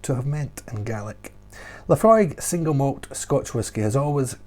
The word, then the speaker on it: Laphroaig: imagine the waves lapping laphroaig the beautiful hollow by the broad bay um so yes again it's got that aig at the end egg egg you get this at